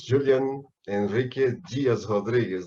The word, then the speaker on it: Julian Henrique Dias Rodrigues: And my name in Portuguese, the pronounce is Julian Henrique Dias Rodrigues, not Dias, but this is this is very